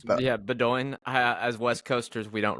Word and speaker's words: Bowdoin: I went to Bowdoin. I might be saying that wrong, but yeah, Bowdoin.